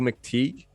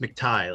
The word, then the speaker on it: McTighe: out for himself mcteek is that how you say the last name it's pronounced mcti like what you wear around your neck yeah mctighe is on our show